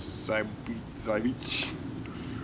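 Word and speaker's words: Żywiec: the National Socialist Germans they called the townsite bush but the Polish pronunciation is sighs I beach I know I'm saying it wrong both ways look at that nice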